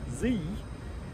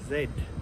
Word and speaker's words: Z: of my american friends this letter is pronounced zee in other countries it's pronounced zed and well the zed